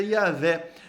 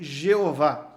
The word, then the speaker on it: Yahvé: nós entendemos mais corretamente, que a pronúncia mais correta seja Yahvé, no português Javé. Então, é mais correto falaré ou Yahé do que Jeová, mas virou uma uma interpretação corrente, uma uma pronúncia corrente no português se referir a Deus como Jeová.